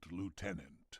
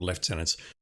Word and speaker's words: lieutenant: Bubble Blade, second lieutenant. Lieutenant, not left tenant.